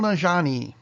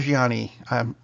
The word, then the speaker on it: Nanjiani: movie we both liked Kumail Nanjiani not Gianni I'm sorry I mispronounced